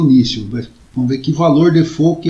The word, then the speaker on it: default: dizer, eu omiti esse, na verdade pronuncia-se default, tá, em inglês, né? Mas a gente fala em português default, talvez por influência da língua francesa.